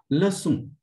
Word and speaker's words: leçon: Leçon, which is listen.